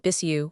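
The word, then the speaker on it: Bixiou: Bixio pronounced it Bissu was a draftsman who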